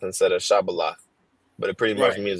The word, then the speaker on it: shibboleth: You know, they said Sabalath instead of Shabalath, but it pretty much means the same thing.